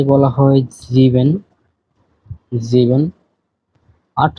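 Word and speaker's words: sieben: হয় জেক্স তো সাত কে বলা হয় জিভেন জিভেন আট কে বলা হয় আক্ট আক্ট নয়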